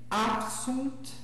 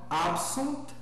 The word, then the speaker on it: absunt: Então, seguindo ali, absunt, optulit. Percebam, inclusive, que eu pronuncio bem o T final, né? Então, absunt, optulit. Né? É um T que tem que ser pronunciado, não pode passar por cima dele.